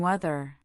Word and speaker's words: weather: When saying weather, make sure to distinguish it from weather. Weather has a soft th sound like we teacher.